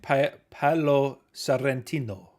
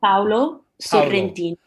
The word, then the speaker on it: Paolo Sorrentino: Paolo Sorrentino. Paolo Paolo. Sorrentino.